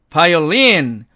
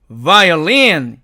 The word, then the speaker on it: violin: 이것도 보통 우리가 읽을 때는 violin 이렇게 읽는데 violin이 아니고 violin 이렇게 읽어야 된다는 얘기고요.